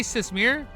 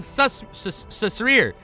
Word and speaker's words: Sasrir: Did I say Sasmir? I meant Sasrir.